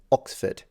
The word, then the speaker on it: Oxford: ox and they are conjuncted that he says Oxford notice that next time you hear him it's